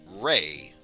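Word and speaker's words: rei: course zero which it could be pronounced either zero or rey which is r e i for any fans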